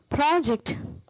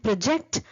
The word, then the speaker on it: project: So project, where the word stress is word initially, is a noun, and project, where the word stress is on the second syllable, is a verb.